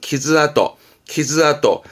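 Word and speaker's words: 傷跡: 그러면 이게 상처의 상자라 말하자면 상흔, 즉 상처의 흔적, 상처 자국인데 발음은 키즈아또.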